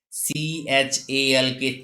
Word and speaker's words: chalk: Whenever L is found before M, F, K, D, in that condition, L is silent. As example, CALF, cough, not calf. CHALK, chalk.